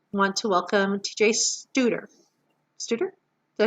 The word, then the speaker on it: Stouder: Stouder?